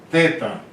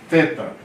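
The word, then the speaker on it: θήτα: Teta. Teta. Teta aqui é tipo TH.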